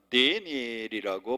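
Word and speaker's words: Daniel: 우리 성경에는 다니엘이라고 돼 있고요, 영어 성경에는 뭐라고 하는 데니엘이라고 발음을 합니다.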